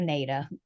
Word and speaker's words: NADA: property so he uses the not a value or NADA different people pronounce it different ways um the native value